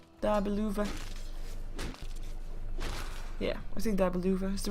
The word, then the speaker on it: Dabe Luvvaz: Yeah, I think Dabe Luvvaz is the right pronunciation.